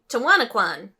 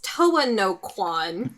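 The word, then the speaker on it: Towa no Quon: It's It's Toa no Kwan.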